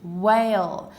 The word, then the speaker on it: whale: You just say the w as if there was no h, but it is important to know that these words have a w-h sound, not just a w.